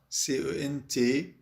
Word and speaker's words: cent: 100 CENT. الإن تلفظ قليلا من الأنف والتي لا تلفظ إطلاقا.